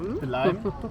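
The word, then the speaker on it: Belém: Wie spricht man das aus? Belem.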